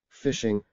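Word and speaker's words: phishing: Fishing, pronounced fishing, is an online fraud technique used by criminals to lure you into disclosing your personal information.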